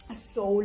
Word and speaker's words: Seoul: Seoul in realtà dovrebbe essere la pronuncia corretta, e dice che nel Sud Corea è molto festeggiato il Capodanno cinese.